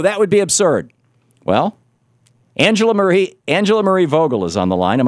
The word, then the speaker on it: Angela Marie Vogel: Well, Angela Marie Vogel is on the line.